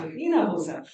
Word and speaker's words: Hinojosa: Hinojosa.